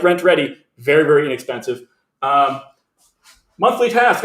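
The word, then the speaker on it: Rentredi: you haven't checked out rent ready it's r-e-n-t rent ready but it's spelled weird r-e-d-i rent ready there should be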